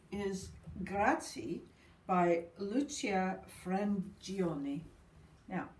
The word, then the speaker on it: Frangione: So the 5 out of 5 is Grazie by Lucia Frangioni. Now, that's my version of the Italian pronunciation.